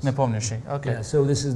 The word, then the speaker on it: Nepomniachtchi: In Russian, we say Nepomniachtchi. Yes. Nepomniachtchi.